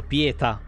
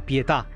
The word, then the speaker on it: Pietà: e tra l'altro io fino adesso l'ho chiamato pieta perché non ci hanno messo accento ma no Lei si chiama pietà Mo l'ha detto con un accento inglese di merda ma lei si è chiamata pietà quindi c'è l'accento Ma volete mettercelo Sen